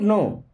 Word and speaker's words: know: एट ऑल I don't नो आई होता है मैं डोंट मीस नहीं अब देखिए इस वर्ड में के साइलेंट होता है ठीक है इसे पढ़ते हैं नो आई डोंट नो मीस